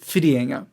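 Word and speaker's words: Whitianga: location which is spelled widienga but it's actually pronounced fidienga just so you know anyway once we were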